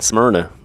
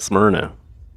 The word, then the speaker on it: Smyrna: farm in Smyrna Tennessee that's how you say it Smyrna at least that's how my family says it Smyrna I don't know if there's another way to say it but it sounds super Tennessee what was that oh